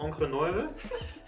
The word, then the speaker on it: Encre Noire: It's called Encre Noire, if you want to pronounce it in the right German.